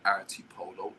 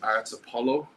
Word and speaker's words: Artsipolo: We're Arty Polo. A R T SI P O L O because it's commonly misspelled. I've heard and mispronounced. And mispronounced. I've heard art Apollo artifo artist polo.